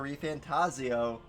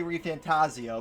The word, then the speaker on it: ReFantazio: rebirth with seven and every time Jeff key announced it he said metaphor ref fantasio so I've been saying it wrong but you know